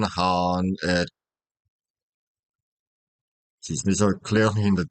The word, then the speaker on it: Khan: Uh, yeah, Shere Han gonna go with the Turco-Mongol pronunciation of the word Han, not Khan, Han.